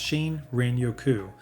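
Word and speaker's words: 森林浴: This is shiny yoku, pronounced shin renoku, which gets translated as forest bathing.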